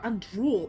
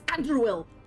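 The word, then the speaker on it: Andruil: started using it again I hate that they're calling her andrul it's andruel andruel how you pronounce Elvis names it's fine sure let's call them andrw andrul just sounds wrong andruel sounds very elid okay never mind um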